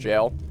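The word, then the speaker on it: gaol: It looks like it would be g if you don't know that it's pronounced jail. Barry said gall.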